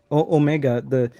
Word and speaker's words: Omega: Dan was saying Omega is wrong. I do agree. Omega is wrong. Omega, the way us North Americans pronounce it, for at least in this case, is correct.